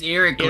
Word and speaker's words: Ericles: It's Ericles. Heracles. Right. Whatever It's a her stupid name is. name. It's like a Why is fairy it? tale. It just rhymes with keys.